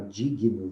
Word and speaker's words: digno: pronunciar essa palavra corretamente falar Diguinho o médico Flávio Dino e acabamos por falar Digno né difícil atirar não correto